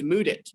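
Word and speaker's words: Mudit: so uh so yes my name is moodit that's spelled m-u-d-i-t but despite it being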